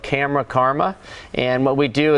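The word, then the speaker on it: KAMRA: And again, it's called Camera. It's spelled K-A-M-R-A.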